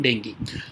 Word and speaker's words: dengue: अगर डेंगू में, तो डेंगी रादर, ठीक है। तो डेंगी कहते हैं, मैं गलत प्रोनाउंस कर रहा हूँ, डेंगू नहीं कहते इसको, आप भी याद रखना, डेंगी कहते हैं इसको, ठीक है।